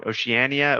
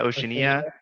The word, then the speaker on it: Oceania: Uh I'm probably going to say it wrong. Oceanania. Oceania.